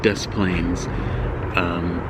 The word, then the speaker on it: Des Plaines: commuter train if called des plaines look right here DesPlaines and I know that's not how the French would pronounce it but that's how as